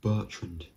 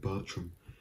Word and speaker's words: Bertrand: it's hang keller so another person's surname that a lot of people i don't think they mispronounce it but they misread it in a way and that is hawk or eli and that is jacob bertrand i've even sometimes mistakenly called him jacob bertram because i always reminds